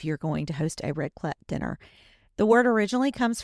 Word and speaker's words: raclette: And today we're going to talk about a type of gathering called raclette. And I think I'm pronouncing that correctly.